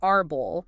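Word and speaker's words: árbol: And then Jana's they have the stress on the second to last syllable like arbull meaning tree. The emphasis is on bull.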